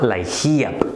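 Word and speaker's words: LIHEAP: es un programa que se llama laap se escribe l I h e ap y me siguen haciendo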